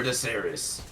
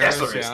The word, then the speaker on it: Deceres: First blood for Jaceres. Am I saying that right? Is it Jaceres? I think Deceres or Jaceres. Deceres, there we go.